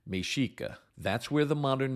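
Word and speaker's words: Mexica: Native Americans that we call Aztecs called themselves mesika it's spelled meex IA but pronounced mesika that's where the modern name of Mexico comes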